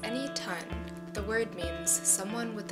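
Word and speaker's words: Enitan: Pronounced as Anytone, the word means someone with a story.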